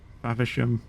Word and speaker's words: Faversham: yeah that's how you were that's how you pronounce it favishham but yeah taina mortain them I don't know